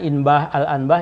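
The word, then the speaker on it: إنباه الأنباه: Waqad bayyana, dan kami telah jelaskan hal ini, dzalika, hal tersebut, fi inbahil anbah. Nah, ini bacanya inbah al-anbah, ini keseluruhan karena ini nama kitab.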